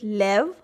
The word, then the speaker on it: live: Here this E is just to support the V because English words don't end in V. So the word is live. And its heteronym is live. I is saying the long I sound.